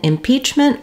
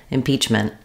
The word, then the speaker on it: impeachment: a burst of air I may use a stop T here instead impeachment impeachment it'll just sound like a very short N I stop the tongue